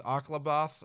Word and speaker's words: Akalabeth: And I know that we have a few other games to talk about, like how do you say this? Aklabath? Aklabath? Calabeth. Yes, a Akalabeth. Calabeth.